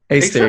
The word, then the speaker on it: Aesir: I'm going to mispronounce the last word. That's okay. Aesir? Aesir, yeah, that's right.